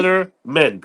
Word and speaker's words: Kellerman: Kellerman.